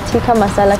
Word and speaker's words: tikka masala: yes okay so can i please have the tikka masala curry sauce that's how you pronounce it chicken tikka masala okay and then